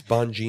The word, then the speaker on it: Bongino: It's Bongino.